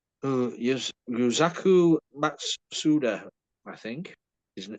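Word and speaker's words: Yusaku Matsuda: Yuzaku Matsuda, I think, is how you pronounce it.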